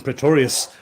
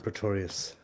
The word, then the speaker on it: Praetorius: Praetorius rhymes with notorious, so he says. Let's see if he's online, and we'll have a word with Praetorius.